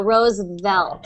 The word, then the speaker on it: Roosevelt: But eventually you'll be able to do that V sound just by lightly touching your teeth on your lips. So Roosevelt.